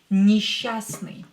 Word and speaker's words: несчастный: Несчастный. Несчастный means unhappy. Несчастный means unhappy. Or unfortunate. Unfortunate. Несчастный. Unhappy, unfortunate. Несчастный. Что нужно здесь запомнить? S and cha here will be pronounced as sha.